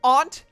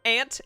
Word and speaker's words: aunt: It's pronounced aunt, not ant. Ant is an insectoid.